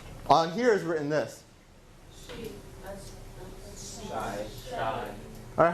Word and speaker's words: شاي: Alright, so we have the alif, so shy. Shy. هذا مو شاي, هذا أقوى. How do we read this? She. So we don't have that alif sound.